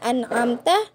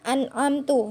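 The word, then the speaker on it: أَنْعَمْتَ: Kemudian contoh alahan al-jali kemarin yaitu mengganti harokat domah pada lafal an'amta ya, harusnya an'amta dibacanya an'amtu. Nah, itu salah ya.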